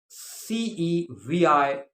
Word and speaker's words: ceviche: This is called Ceviche. Ceviche, and it is pronounced ceviche.